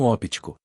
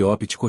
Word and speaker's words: óptico: audição ao passo que óptico refere-se ao sistema visual portanto ninguém vai à Ótica comprar óculos O correto é pronunciar a letra P pois sem ela estaríamos nos referindo ao sistema auditivo mas pessoal calma trata--se